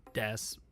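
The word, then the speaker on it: です: Japanese um so like Desa is spelled D S U Ka or you just say death for other things like sentences um sometimes the U is pronounced and there's not a hard there's not a hard and fast rule for when you pronounce the U and when you don't which I think is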